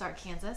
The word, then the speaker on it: Arkansas: and I should say it properly, it's Arkansas, I'm from Wichita, it's Arkansas River.